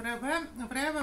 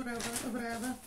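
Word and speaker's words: REWE: Вот эту воду всегда беру в Реве. Что-то сегодня Реве. Вот ударение неправильно ставлю.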